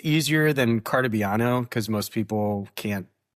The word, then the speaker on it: Cartabiano: yeah, it's easier than Cartabiano because most people can't pronounce that. So it's just an easier month. I don't know. It is phonetic. It is spelled exactly the way it sounds.